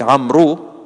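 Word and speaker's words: عمرو: But in Arabic, you don't spell Amr with three letters. You spell it with four letters. Ayn, Mim, Ra, and Waw. So it's like Amru, but it's pronounced Amr.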